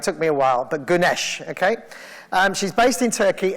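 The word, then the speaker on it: Güneş: the way it took me a while but Ganesh okay she's based in Turkey and she works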